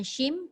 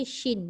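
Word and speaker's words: شين: kata Shindong sebutannya SIM salah bukan SIM tapi Shin yaitu shinya Nun Oke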